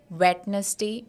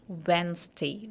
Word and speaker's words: Wednesday: a week it is I have people saying it is wetness day and venes day but it is not wetes day and wenes day but it is V Day W day I'll be going for a party on Wednesday Wednesday day all right so